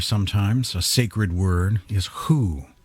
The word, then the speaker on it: Hu: a sacred word is who spelled H you pronounced H oo oo o or who or dr. who as in dr. who or who who's on